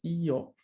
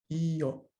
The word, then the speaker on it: io: Io. Io. El acento está en la I, no en la O.